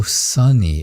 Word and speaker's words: Sani: Oh, sunny. It should be pronounced sunny.